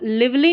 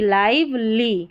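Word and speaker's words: lively: making the garden garden यहां पर इसको लिवली नहीं पढ़ना है एल आई वी ई एल वाई लिवली नहीं लाइव एल आई वी ई लाइवली लाइवली ने चर टी यू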